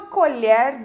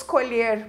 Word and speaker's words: colher: a mesma escrita mas uma tem pronúncia com som aberto e a outra tem a pronúncia com o som fechado então colher colher utensílio doméstico Tome uma colher de sopa Ok e